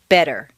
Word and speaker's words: better: the t and listen the double t in better is pronounced d better any other pronunciation will